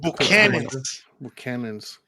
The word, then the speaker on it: Buchanan's: Yeah, because there's another N that we just never pronounce. It's Scottish, yeah.